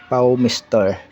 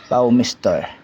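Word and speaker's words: PowMr: Paw Mister yung pronounce nila sa charge controller sa ibang bansa. Paw Mister ang basa nila pero sa Pilipinas Paw Mr.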